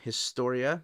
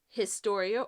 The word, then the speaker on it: Historia: Let us know in the comments, do you say Historia or Historia? Because if you're pronouncing it the Spanish way, you don't pronounce the H, and that's what I always say in my head when I'm looking at the title.